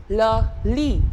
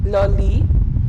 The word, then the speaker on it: le lit: The first one, le lit. T not to be pronounced, it's a masculine term, le lit.